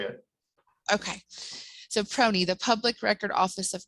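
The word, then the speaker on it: PRONI: p r o i acronym is do we pronounce that proney that's how i say it okay so proney the public record office of northern ireland nick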